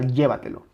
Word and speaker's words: llévatelo: sílaba tónica la palabra llévatelo llévatelo claramente está aquí si le quitamos esa intensidad sería llévatelo llévatelo llévatelo llévatelo no es lo mismo llévatelo que llévatelo llévatelo Okay entonces como aquí